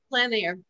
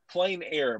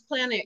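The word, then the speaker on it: plein air: Well, and you pronounced it, is it pronounced Plan Air? Plan Air. Mm-hmm. Okay. It's actually a French word. I always want to say plain air, but it is outside, right? It's Plan Air.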